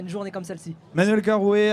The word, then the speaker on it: Carroué: est de retour encore, toujours, avec Hotfing et cette fois-ci avec Manuel Carouet. J'espère que je le prononce bien. Oui, c'est bien ça.